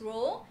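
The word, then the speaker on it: rho: for row is actually it's not p is a Greek symbol okay we pronounce as row and then we have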